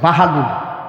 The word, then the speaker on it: বাহলুল: নাম অসম্ভব ভালো ছেলে বাহালুল বাহালুল বয় কার বা হকার হা ল লুনুল বাহা কিল বাহালুল সবাই স্পষ্ট উচ্চারণ করো বাহা বাহালুল বাহাদুর না বাহাদুর বাহাম আল্লাহর সুবহানাল্লাহ বাহা